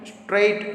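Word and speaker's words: straight: उसके बाद यहाँ पे स्ट्राइट, स्ट्रेट जो इसमें जी है वो साइलेंट है।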